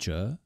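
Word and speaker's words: 𪚥: The one on the left is pronounced zhe, and its meaning is to talk a lot, to chatter away.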